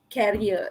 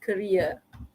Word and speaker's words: career: go uh for interview it's not carrier it's career think and think okay